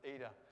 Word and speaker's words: eta: n yeah in english don't be tricked it's not an n it's a long e sound all right this is eta and it's a long